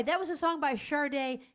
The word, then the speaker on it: Sade: Anyway, that was a song by Sade. Kathy calls Sade Sadie. Because her name is spelled S-A-D-E. Sadie.